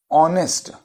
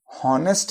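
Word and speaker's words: honest: लेकिन अगर आप फिर से सुने, ऑनेस्ट हॉनेस्ट नहीं बोलते, अगर हम हॉनेस्ट बोलते तो ह का उच्चारण होता, हम ऑनेस्ट बोलते हैं अ, तो अ रिप्रेजेंट द वॉवेल।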